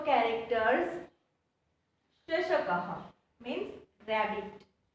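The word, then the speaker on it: शशकः: Here the 2 dots is called a visarg, that I have already explained in the Chitrapadani word, right? And it pronounced as ha. Shashakaha, Shrugalaha, Vanaraha, Sinhaha.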